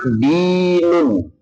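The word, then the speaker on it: دين: itu hurufnya sama cuma bacanya beda. Kalau agama dinun artinya aga agama kalau hutang dainun.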